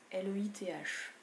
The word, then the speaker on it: Leith: D'ailleurs, je dis Leith, mais je pense que c'est Leith. L-E-I-T-H. Vous le prononcez comme vous voulez, vous pouvez même dire Leith. À la française, très joli.